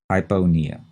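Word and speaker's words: hypopnea: typo nia h-y-p-o-p-n-e-a and again notice in that one the p in panea is not set at all hyponia and what is the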